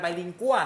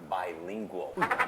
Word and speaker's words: bilingual: มัน เป็น ราย การ ไบลิงกัว เข้า ใจ ป่ะ ก็ ต้อง พูด ภาษา อังกฤษ ด้วย ขอ โทษ ครับ จริง ๆ แล้ว คำ นี้ ออก เสียง ว่า bilingual แปล ว่า 2 ภาษา นะ